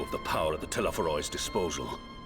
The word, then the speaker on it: Telephoroi: He sought only to make a show of the power at the Telephoroi's disposal. It's pronounced Telephoroi, as Rabban says it at least.